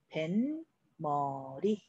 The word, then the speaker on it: 뱃머리: 자, 발음은 벤, 머리.